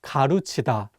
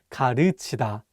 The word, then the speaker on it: 가르치다: One more time, it's not pronounced 가르치다, but 가르치다. Again, this vowel 으 is much wider than the vowel 우.